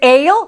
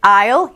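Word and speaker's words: aisle: isle what a for is it ale no is it isle yes as if there was no a of course if there was no a it would be isle for island but instead it's isle for pathway the bread isle has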